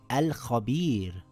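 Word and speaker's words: الخبير: It reads as al-khabir with a light Ra.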